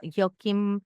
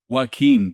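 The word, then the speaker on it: Joaquín: Association meetings, and I met some pretty awesome Joachim, I can't pronounce his name, he's deceased now, but you know who I'm talking about, Joachim? Joaquin de Posada.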